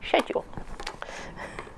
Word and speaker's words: schedule: what should we say if you're american you may like the way in which i say schedule because that's how we pronounce it over here i'm getting myself